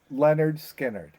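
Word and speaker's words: Lynyrd Skynyrd: two Legacy bands but it's pronounced Leonard skinnard Leonard skinnard you say Okay JT what do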